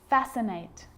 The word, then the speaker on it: fascinate: cause a few problems because it's often silent after the letter s like in these very common examples they're quite tricky muscle muscle scissors fascinate scene scenario muscle scissors